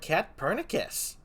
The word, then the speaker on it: Katpurnicus: a bit long and sometimes people think the c is pronounced so they're like pat cat pernici sus or you know like